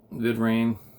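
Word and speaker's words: Vidrian: VidRain. That's how you pronounce it.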